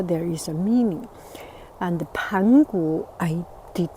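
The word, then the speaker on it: 盘古: Pangu, this is the correct pronunciation, and you will hear from other English version talking about Chinese mythology. They may pronounce it Pangu, Pangu, or something. It's Pangu.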